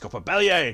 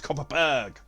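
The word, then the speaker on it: Kopparberg: favorite is copper bellier now anyone who is not swedish will think i've mispronounced that but be what beware i have been to sweden i was taught the proper pronunciation of that cider just copper bellied not copper berg i have no idea why but it's swedish i used to be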